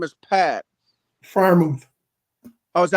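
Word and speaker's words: Freiermuth: Firemouth. Oh, is that how you pronounce That's his it. last name? That's it. Fair move. Yep. Okay, Firemouth.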